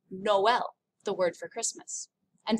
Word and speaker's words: Noël: Tréma, the two dots, actually makes the two vowel sounds separately. It's found in the word Noël, the word for Christmas.